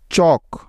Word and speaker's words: chalk: চক, CHALK, চক। Next, M এর আগে এল সাইলেন্টের কিছু উদাহরণ, যেমন কাম, CALM, কাম, পাম, PALM, পাম, বাম, BALM, বাম।